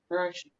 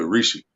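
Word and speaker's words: Hrishi: H is silent. So Rishi.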